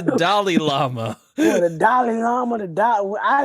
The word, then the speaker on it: Dalai Lama: I didn't know the fuck a Dama Lama was. You still don't. Well, you say it like this. It's the Dalai Lama.